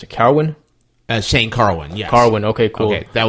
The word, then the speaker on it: Carwin: And then it follows with Lesnar versus, let me see how you pronounce it, Carwin? Shane Carwin, yes.